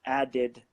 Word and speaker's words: added: so include did and again guys with number 16 same principle you've got the duck before the II D and so it's added again so it's it